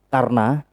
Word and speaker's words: Karna: Kalau Karno kalau sudah sampai ke Jawa Karno, kalau aslinya itu Karna, tapi di Jawa pewayangan Jawa itu Adipati Karno. Karena A itu berubah O ya. Iya. Aslinya kan A jadi O. Aslinya itu Karna.